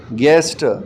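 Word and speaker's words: guest: फिर है गेस्ट, इसमें U साइलेंट है।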